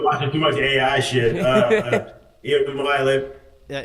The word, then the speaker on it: Iamaleava: Iamaleava. Yeah, Iamaleava.